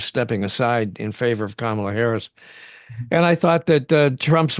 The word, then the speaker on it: Kamala Harris: Did she say, I'm Kamala Harris? Did I hear that? Did yeah, she say that? obviously with the intent of telling him how to pronounce her name.